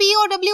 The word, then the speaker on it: POW: कैसे, examples, POW, इसको आप POW अलग-अलग ही पढ़ेंगे क्योंकि आप इसको पो नहीं पढ़ सकते, दैट विल बी रॉन्ग। हम इसको पढ़ेंगे प्रिजनर्स ऑफ वॉर, तो POW सेपरेटली पढ़ा जाता है, POW।